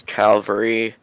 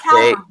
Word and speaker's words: cavalry: In the plural, it's cavalry. Not Calvary. Okay, now this is important.